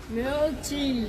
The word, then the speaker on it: Mhyochi: How can you pronounce Mhyochi? म्योची Ah.